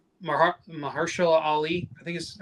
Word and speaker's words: Mahershala Ali: And even like Mahershala Ali, I think is how you say his name. Mahershala Ali, yeah.